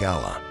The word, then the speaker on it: Allah: word for God a is not pronounced with a strong emphasis on the a as in Turkish instead they say Allah more like Allah this term is actually